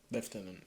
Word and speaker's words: lieutenant: in the audio book how do they pronounce leftenant do they say leftenant or Lieutenant liutenant they said liutenant okay good cuz I think that's an anachronism Lieutenant is in americanism but yes I found